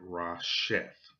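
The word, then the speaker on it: ראשית: And if you look that word up in the concordance, it derives from this Hebrew word, and you will pronounce that Rasheth.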